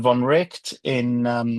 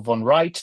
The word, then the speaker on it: von Wright: is visiting his friend von Richt or von Wright, depending how people want to pronounce it, in Cambridge, who's taken over Wittgenstein's kind of chair.